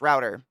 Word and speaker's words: router: see it's the same it's router so it's the good wit okay that's the way I wanted to pronounce it because Rooter felt strange it's router cool thank you isn't it